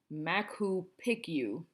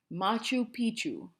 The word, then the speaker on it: Machu Picchu: I said something like Mac who picked you bad moose she said Machu Picchu I thought she was nuts until my mom informed me that is how it is pronounced my mother went straight